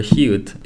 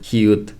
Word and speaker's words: 히읗: However, the only case where the letter 히읗 is pronounced T sound is the very word 히읗 only, which is a name for this letter.